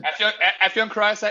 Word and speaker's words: Afyon Karahisar: So we got Afyon Karahisar. Is that the right way to pronounce it? Afyon Karahisar SHS.